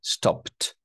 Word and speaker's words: stopped: But, we must make double p and then ed, stopped. Because p is soundless consonant, soundless ed, we say as t. Stopped.